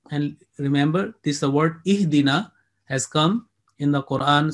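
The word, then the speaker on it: اهدنا: As you say, alif with fatha, a, and this down, I sound E. So when it joins with the next one, you say ihdina.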